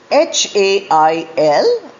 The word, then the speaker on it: hail: This is the next pair, H-A-I-L and H-A-L-E, pronounced as hail. Spelling is different, meaning is different, but pronunciation is the same.